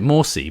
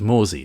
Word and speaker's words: Morsy: They pronounced it Morsy, but we thought it was Mory at the start.